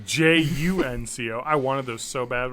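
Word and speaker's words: JNCO: Jinko jeans. Oh, what is this from the 90s? First Early off, 90s? it's spelled Junko jeans. It's Junco.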